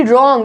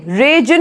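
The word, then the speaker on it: reign: रेन, रेन, रेजन नहीं बोलेंगे, मतलब शासन करना, रेन।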